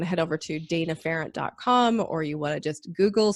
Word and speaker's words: Pharant: so I'm very fortunate I'm the only data parent in the world so last name is spelled ph8 ra NT and so if we want to head over to Dana ferrant calm or you just Google search my name